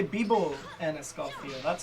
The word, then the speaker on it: vivo: Bibo. Well, it's spelled V-I-V-O, but it's pronounced Bibo.